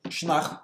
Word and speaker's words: Sionnach: Now, in Munster, the form is Sionnach with the stress on the second syllable.